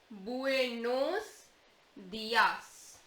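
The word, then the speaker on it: buenos días: So you remember the sound of U is U, the sound of E is A. So this is buenos dias.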